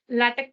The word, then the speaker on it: LaTeX: cheat underscore sheet flattex latex cheat sheet and always pronounce latex as a lactic that is what it's mentioned here latex not latex so if it's a